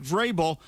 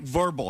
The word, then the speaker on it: Vrabel: to educate herself on how to pronounce New England head coach Mike Vrabel. She called him Mike Verbal.